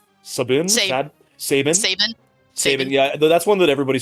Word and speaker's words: Sabin: I've probably pronounced it 3 or 4 different ways, but lately I'm going with Sabin.